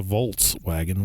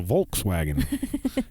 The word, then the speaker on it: Volkswagen: but it's a Volkswagen not not like what Siri not a volts wagon with the volts but a Volkswagen you know a Volkswagen Ferdinand Porsche call it a Volkswagen the people's car uh